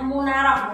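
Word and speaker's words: منارة: Nah, munarah itu artinya juga munarah, tulisannya munaratun, tapi kita bacanya munarah.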